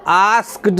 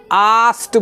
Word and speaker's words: asked: And servants और नौकरों को, एंड आस्क्ड, ये जो ASKED है इसको आस्क्ड नहीं बोल के आस्क्ड बोलते हैं। लास्ट में आपको टॉ का उच्चारण करना है।